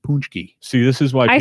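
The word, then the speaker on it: pączki: it's spelled P AC z ki and it's pronounced punch ki see this is why I saw that word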